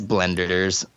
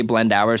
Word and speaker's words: Blendours: blend how would you pronounce that did I pronounce it incorrectly it's it's blenders it's blenders but I hear people say blend hours so much that I almost refer I almost